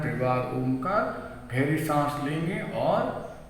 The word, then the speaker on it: ओम: यहाँ से हमें करना है त्रिवार ओमकार। गहरी सांस लेंगे और ओम का उच्चारण करेंगे, अ, उ और म।